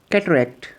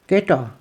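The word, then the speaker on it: catarrh: कल बंद हो जाना कैटरेक्ट आंख कम मोती है सफेद मोती भी कहा जाता है कटा ब्रिटिश प्रोनंसिएशन में डबल आर एच साइलेंट है जबक अमेरिकन में य बोला जाता है कटार कहा जाएगा नजला य काम को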